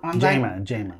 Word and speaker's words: Jama: you as Jamie but you are saying Gemma Jamma Jamma yeah say it right I'm glad